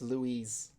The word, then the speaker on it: Luis: It's not L-O-U. Yeah, Luis Serra. Luis Serra. That's how it's pronounced. But he is from that country. We're an American. Yeah, but the name Lewis in America is L-O-U. I'm sorry, L-O-U-S-E, and his name is L-U-I-S. It's Louise.